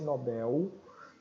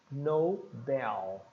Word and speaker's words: Nobel: no inglês Cuidado que o l não vai não vai ser Nobel né ou Nobel não vai ter som de u o l ele é como se fosse um loop na língua se dá uma volta na língua ó L é tanto que no alfabeto L é um som bem enrolado então é no Bell veja que o som